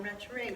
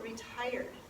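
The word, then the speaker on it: retiré: So that's a very important one, retire. We do that every week. Retire means retire. R-E-T-I-R-E accent. Retire. Can you see that? It's spelled like retire, but with an accent over the E.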